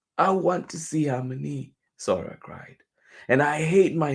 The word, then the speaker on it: Sora: She remembered how Halmoni would say her name with a soft S and a gently rolled R.